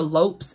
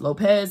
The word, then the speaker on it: Lopes: although I definitely recommend Christina Lopes l-o-p-e-s I know some may say it's pronounced Lopez I thought so too that's how she pronounced tonight take it up well